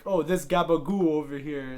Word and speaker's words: gabagool: Gabagool is a regional pronunciation of capricola, which is a thinly